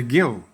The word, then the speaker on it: gill: The gill. The origin was from the medieval Britain, Middle Ages. The word gill, pronounced Gill, comes from the Old French gilli, meaning a measure of serving liquid.